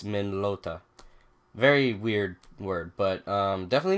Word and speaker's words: Minolta: old men old Minolta I was pronouncing after the long soccer used to call it mini lota but I guess it's min lota very weird word but